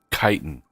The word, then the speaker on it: chitin: ax the iron hammer I've got the uh chitlin chitten or however you say it though um part of me just died how do you say it chitin all right Titan bow we have kite and